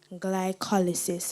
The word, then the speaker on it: glycolysis: Glycolysis. Am I pronouncing the word correctly?